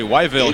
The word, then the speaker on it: Whiteville: McLaughlin is from North Carolina, from Whiteville, which he says they pronounce really Wyville here.